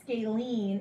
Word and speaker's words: scalene: lengths or be congruent and then this is pronounced scalene and a scalene triangle all of the sides